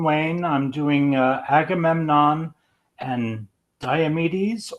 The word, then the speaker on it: Diomedes: Ken Wayne, I'm doing Agamemnon and Diomedes, or is it Diomedes? Diomedes. Diomedes. I like Diomedes Diomedes. more, but I always say Diomedes. Diomedes. Diomedes. Diomed. I'd say Diomedes. I've mostly heard it as Diomedes. I like Diomedes more. It sounds more Greek.